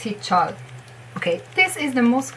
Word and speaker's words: Heechul: And you have his second syllable, chol. It's not chul, it's not Heechul, definitely not Heechul, it's Heechul.